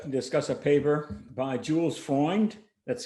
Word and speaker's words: Freund: going to just discuss a paper by jules foreign that's spelled f-r-e-u-n-d and catherine mcdermott from 1942 which